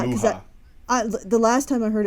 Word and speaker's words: Mucha: Well, it looks like it's Mucha or Mucha, okay, but it's pronounced Mucha.